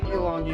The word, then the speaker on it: Ylang: Ylang.